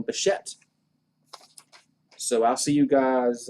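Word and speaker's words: Bichette: pronounce his name so my apologies to beshet sorry sorry buchet i won't make that mistake again tomorrow i will not make that mistake again i will call him beshette so i'll see you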